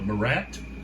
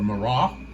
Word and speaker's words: Marat: Okay, so some of these, it's like, do you do Marat or Marah? Okay, I think it's like Murrah. It's T silent like Chevrolet.